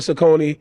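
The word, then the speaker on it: Saucony: as6 sakonis all that black people call it Sone it's called Sak y know before somebody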